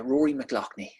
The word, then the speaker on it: Rory McLoughney: how do i say your last name uh rory mcloughney barkley mclaughly just you know they can't pronounce would look mcglockney's or whatever whatever way